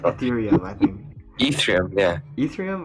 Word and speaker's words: Ethereum: a fair point like i think erythem well i can't why can't i always pronounce it ethereum i think ethereum yeah